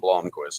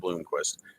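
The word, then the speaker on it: Blomqvist: made a good point you can say it it's Tom Blom so it's Tom Blomquist not Bloomquist even some of the announcers on the Races they another Blomquist they will uh you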